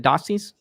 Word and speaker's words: Dossi: Is that how I pronounce it? Dossie's? Is that right? Yep.